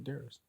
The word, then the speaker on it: Demetrius: It's probably just me because I don't even pronounce really the U in my name. You call yourself Darius? Darius. That's ridiculous. Like if somebody asks me what's my name, I say Darius.